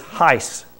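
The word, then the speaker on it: εἷς: We're introduced to a third word used for one, and it is heis, just like ice with an H on it.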